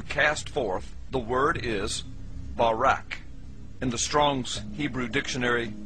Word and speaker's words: Barak: Hebrew word is Barak so lightning or a flash of light in Hebrew is pronounced Barak or Barack now consider this amazing